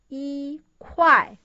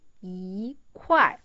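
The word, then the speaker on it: 一块: The original pronunciation is 一块. So it changed into 一块.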